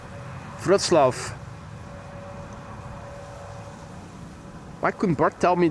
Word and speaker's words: Wrocław: So the W is pronounced as a V and the C is pronounced as Ts. Wrocław.